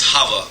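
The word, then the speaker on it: Chava: another name I call I pronounced it as hava hav aah you can probably looking at a footnote sometimes it's spelled with a C so in Hebrew words like Chanukah actually have a silent C so you might see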